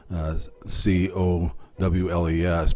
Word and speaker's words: Cowles: the late 18th century, a man named Noah Cowles, again spelled the way that this creek is spelled, C-O-W-L-E-S, but pronounced Cowles, came to United States in 1799